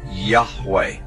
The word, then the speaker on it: Yahweh: Today, Yud He Wahe is most often rendered as Yahweh when written or spoken by Christians and others. It is still never pronounced aloud by Orthodox Jews.